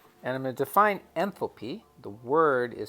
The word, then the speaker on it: enthalpy: going to define something for this case called enthalpy and I'm gonna define n thil P the word is spelled e n th al P Y the